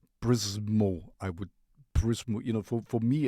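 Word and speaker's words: Przemo: Prismo. Prismo. You know, for me as a German, it's hard to pronounce something when there is no vowel, you know, or vocal.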